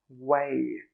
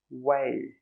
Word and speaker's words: weigh: So how do we pronounce this one? It's the same, way, way.